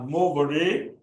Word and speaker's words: movere: And the last one, which I pronounce as movere, is M-O-V-E-R-E.